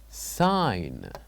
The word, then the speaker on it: sign: word is sign sign so by uh saying this word sign what do you think the silent letter is is a g g h k or H very good we said that in this word the silent letter will be G the silent letter is G now let us move